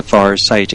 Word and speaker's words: Farsight: the university at the far sight institute. By the way, that's spelled f a r s i g ht like seeing far.